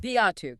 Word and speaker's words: Viatu: That's pronounced V-A-H-2. Viatu, got it.